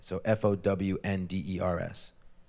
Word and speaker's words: Fownders: Maybe they want to It's called Fownders, but spelt with own in the middle of it. So Fownders.